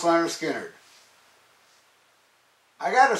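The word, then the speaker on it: Lynyrd Skynyrd: zeppelin first album versus leonard skinner pronounced leonard skinner i got to say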